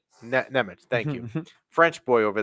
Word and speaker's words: Nemec: How do you pronounce it? Nemec? Nemec, thank you.